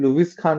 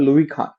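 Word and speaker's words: Louis Kahn: आप लोग प्लीज याद लुई खान actually लुईस खान नहीं इनका नाम है लुई खान लुवी खान इनका जो प्रोनाउंस है लुई साधुर खान वास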